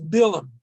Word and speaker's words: Balaam: to a man uh in hebrew it's bilum it's usually is spelled balaam just like balak i